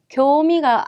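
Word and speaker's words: 興味: 시험 방까지 오게 됐죠 그래서 장음이 들어가는 거 꼭 잘 체크를 해두시고 절대 발음이 코라고 아니고 쿄 쿄라고 예 오늘 흥미가 생겼다 교미 이렇게 기억을 하시면 더 좋지 않을까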